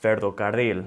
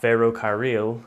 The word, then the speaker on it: ferrocarril: You want to say carro or ferrocarril. It's not ferrocarril.